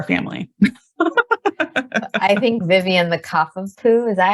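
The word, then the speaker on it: Cavapoo: I think Vivian the Kavapoo, is that how you say it? Kavapoo, yes.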